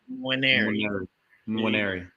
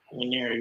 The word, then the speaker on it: Nwaneri: Just start as if you're saying something that starts with an N. Nwaneri. Nwaneri was one of those.